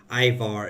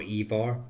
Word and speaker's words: Ivar: Um, Ivar is obviously a very common old Norse name or Evar depending on your pronunciation.